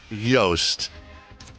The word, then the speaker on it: Yoast: Yoast. Rhymes with rhymes with toast.